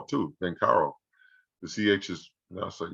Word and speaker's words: Banchero: at banchero um yeah i think he's actually pronounced ben carroll too ben carl the ch is now so yeah lottery date